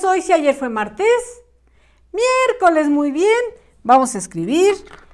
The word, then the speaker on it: miércoles: a faltar ninguna letrita para que diga correctamente miércoles con acento en la primera e de preferencia la mayúscula